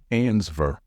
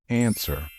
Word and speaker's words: answer: my years of experience many non-native speakers tend to pronounce this word as ansver however the letter W should be silent the only right way to say it is answer please be careful with